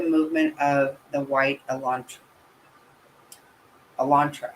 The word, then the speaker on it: Elantra: the white Elantra Elantra I actually said it right that time I did for some reason it's like it comes out of your mouth all messed up I just assumed it was going to come out Electra like I've been saying and I was gonna fix and I was like wait I didn't say it wrong this time okay oh leg legs